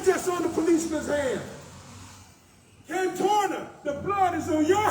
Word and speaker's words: Cantorna: him, when the DA, Cortana, always mispronounce his name, say his name right for me, y'all. Cantorna. I distort his name like he distort the facts.